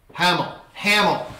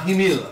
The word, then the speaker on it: Hamel: Hamel. Alright, not Hamil. Alright, Hamel. Cool.